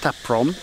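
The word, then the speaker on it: Ta Prohm: Okay, so that was, I believe it's pronounced Taprom, the Tomb Raider Temple.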